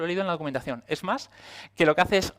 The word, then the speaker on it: SMACSS: Luego tenemos Smash, se pronuncia así, lo he leído en la documentación, Smash, que lo que hace es justamente todo lo